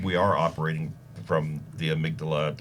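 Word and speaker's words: amygdala: are operating from the amydala or the amigdala is the way you pronounce it right yep and and it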